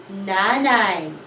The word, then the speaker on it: nanay: This one, we have a diphthong in the second syllable. Na, nai. Nanay. Nanay is mother.